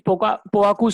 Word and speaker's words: Poaku: Yeah, it's Poaku.